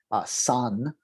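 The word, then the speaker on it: 山: Okay, shan is the Chinese way to pronounce it. San would be the Korean way.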